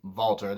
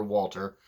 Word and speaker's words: Walter: and yeah I know there's some people don't like you know it being says vaulter they prefer Walter that's fine pronounce it either way he ended Pete nuns